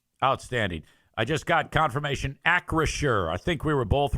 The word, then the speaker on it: Acrisure: Acrisure, yeah, Acrisure.